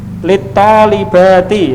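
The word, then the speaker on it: للطالبات: Littalibati ya, itu bacanya littalibati, kepada para siswi ya. Ta itu termasuk huruf syamsiyah.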